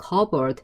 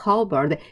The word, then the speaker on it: cupboard: cupboard. 다시 한번 cupboard. P 사운드가 발음 나지 않아요.